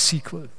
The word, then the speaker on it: SQL: Das wird dann in unserem Fall das SQL sein, SQL eigentlich ausgesprochen. SQL sagt man nicht. Man sagt eigentlich SQL.